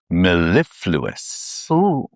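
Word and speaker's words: mellifluous: Maleifluous. Maleifluous. Maleifluous. Okay. Maleifluous. If I can say it properly, spell it.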